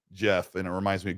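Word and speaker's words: Geoff: about handheld what's that I always mispronounce his name because my dislikes I go g off wait no Jeff oh g off and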